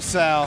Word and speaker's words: Saul: It's spelled Saul. Don't call him that. Call him Sal.